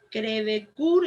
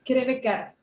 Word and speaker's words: Crevecoeur: Crevecoeur es, Ayelén. No, es Crevecar. Crevecar, bueno, es francés, ¿no?